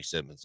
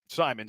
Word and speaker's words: Simons: Simons. I I butchered the name. I mean, Simons. Um I I thought there was two M's there and there's only one.